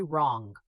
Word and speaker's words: wrong: Silent W before R and in some other words. Write, wrong, wrap, wrist, sword, two, answer. Write, you say write. Wrong, you say wrong.